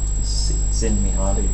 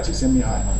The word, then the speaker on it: Csikszentmihalyi: This chap here, does anyone know how to pronounce his name? It's Mihaly Csikszentmihalyi. Not bad. Yeah. It's Mihai. Mihai Csikszentmihalyi.